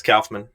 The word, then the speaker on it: Kaufman: It's Kaufman.